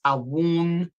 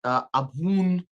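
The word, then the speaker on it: Abwoon: So we know that our Father, Some people pronounce this Awun. Some pronounce it Abun, where you kind of, like doing a little kiss.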